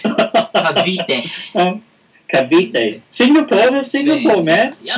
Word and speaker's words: Cavite: I saw Cavite. I don't know if I'm pronouncing it right. No, you're not pronouncing it right. Cavite.